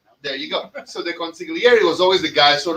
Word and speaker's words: consigliere: Somebody named me, tagged me, and baptized me the Cuban consigliere a while ago. So, yeah. You That's don't me. pronounce consigliere, right? Consigliere. Consigliere. No, it's consigliere. It's Italian. You're Irish.